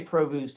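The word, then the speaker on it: Provoost: white and samuel provost i say provost it's not spelled like provost so william white is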